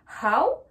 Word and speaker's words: how: Donc how, là on voit bien qu'il y a la lettre H également, donc on prononce la lettre H.